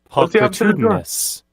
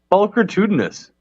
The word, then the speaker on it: pulchritudinous: The L is silent. Who to thunk it? Pulchritudinous. Pulchritudinous. He's saying the L. But it's like a paw. It's like a puck. Oh. Puck. Pulchritudinous. Like chalk. Do you pronounce the L in chalk? 'Cause I don't think you do.